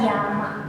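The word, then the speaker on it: 山: Nah, kayak gini, apabila kanjinya berdiri sendiri maka dia dibacanya adalah yama.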